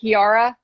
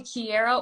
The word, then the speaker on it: Kiara: to pronounce is it kiara well so people call me kierra or kiara honestly i respond to either one so whatever feels natural